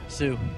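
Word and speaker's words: Hsu: something is wrong with how do you pronounce that H Sue Sue cuz the H is silence something wrong with Sue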